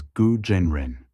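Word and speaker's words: 蛊真人: name DST goo the Chinese name is gu Jen Ren pronounced as guo Jen Ren goo is the name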